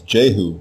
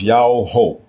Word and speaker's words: Jehu: The royal name everyone mispronounces today as Jehu is spelled with the single letter Yah as the prefix diminutive form. The king's name is not Jehu. It is Yao-ho, Yao-ho.